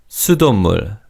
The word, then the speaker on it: 수돗물: Also, in terms of pronunciation, in fast speech, the 시옷 받침 in the second syllable is almost silent. So it's 수돗물, 수돗물.